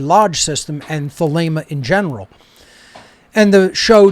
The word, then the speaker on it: Thelema: And then Thelema is with a long A sound in the second syllable, not Thelema.